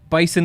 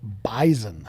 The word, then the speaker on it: bison: go by the bison bison is wrong you have to say it with a z bison even though it's an s yes and first off